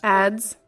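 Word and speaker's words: adze: do you pronounce that ads ads you don't pronounce the E okay I'll just show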